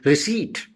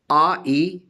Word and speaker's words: receipt: In P becomes silent, for example, in receipt. R-E-C-E-I-P-T, receipt. P is silent.